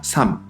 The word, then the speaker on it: 삶: But listen well: "SAM." The "ㄹ" from here is not pronounced, only the "ㅁ".